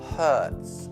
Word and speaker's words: hurts: Poi c'è la frase my, facciamo braccio per adesso, my arm hurts. Ricordando la pronuncia H, come pulire molto forte in inglese, ok?